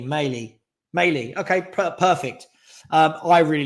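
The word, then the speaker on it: Mæhle: Male is pronounced like male, just with an E. Maley.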